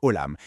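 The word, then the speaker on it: עולם: D'un côté, en hébreu, le monde se dit olam qui se prononce olamâ et ça vient de la racine alamâ qui veut dire cacher.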